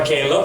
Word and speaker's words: Caleb: Kenapa Caleb? Karena nama saya ditulis dengan English version, Pak. Jadi bacanya Caleb gitu.